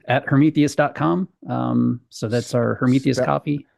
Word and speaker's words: Hermetheus: So that's our Hermetheus coffee. Spell it out for us.